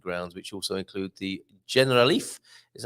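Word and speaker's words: Generalife: the alhambra's Magnificent grounds which also include the general Leaf is how you pronounce that the triangle summer Resort of the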